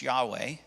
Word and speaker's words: Yahweh: We think it's pronounced Yahweh. We're not quite sure.